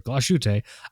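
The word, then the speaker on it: Glashütte: Plus, I mean, uh, Gloss or Glassut. I was corrected on my pronunciation of Glasse. Really? Glass recently. I was corrected. It's gloss.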